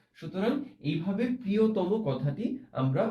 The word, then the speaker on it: প্রিয়তম: আচ্ছা, প্রিয়তম, এটার উচ্চারণ হবে ও ত এর উচ্চারণটা হবে বিবৃত, তারপরে হবে ময়ের উচ্চারণ আবার সংবৃত। সুতরাং এইভাবে প্রিয়তম কথাটি আমরা উচ্চারণ করব।